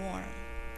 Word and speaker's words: warm: heated the chilly room warm vowels and w w's make vowels kind of say weird things so we say warm but we're going to